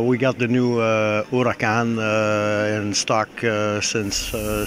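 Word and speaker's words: Huracán: because of the performance this is the Lamborghini Huracan am I pronouncing that correctly not really it's Spanish for or hurricane uh it was the name of a bull so that's a new ball it's the uraka and there's a lot of Heritage there in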